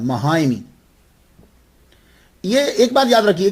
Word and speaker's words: माहिम: जाइए आपके नाम के साथ जो लगता है महामी यह एक बात याद रखिए कि असल लफज़ तो माहिम है। मािम शहर का नाम है। मुल्क इंडिया की रियासत महाराष्ट्र में एक जजीरा है। उसे माहिम कहते हैं।